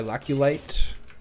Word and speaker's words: Laculite: Silk Gland, Nothic Eye, Laculite. Rhymes with Blight.